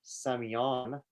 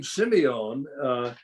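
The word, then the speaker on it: Sémillon: And the name Semillon reflects the native pronunciation of the town Saint-Emilion, the area where this grape came from. So Semillon is Saint-Emilion.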